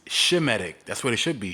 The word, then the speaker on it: Semitic: And why are you pronouncing it anti-Semitic? It's Shemitic. That's what it should be. Shemitic. His name is Shem. It's not Sem.